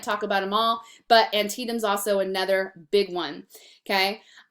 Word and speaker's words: Antietam: Everybody always looks at that word. They're not quite sure how to say it. It's Antietam, okay?